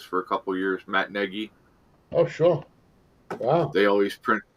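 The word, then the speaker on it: Nagy: a couple years Matt Negi oh sure wow they always they mispronounce his name and call him Matt naggie right we always yell at the TV that's not how you say it you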